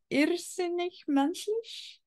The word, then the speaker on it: Irrsinnig menschlich: It's okay, I'm pronouncing it German. Irrsinnig menschlich.